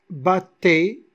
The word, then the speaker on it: battaient: syllabes, joie, e, qui, battait, on a deux consonnes, ils seront séparés, mais regardez ici, batte, on n'a pas prononcé le E, batte, non, batte, alors T, c'est une seule syllabe, parce que le